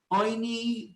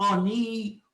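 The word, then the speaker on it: עוני: or the grief bread, depending on whether you pronounce it oini, which is the way we pronounce it, which means for grief, oinin, or ani, poor man's bread.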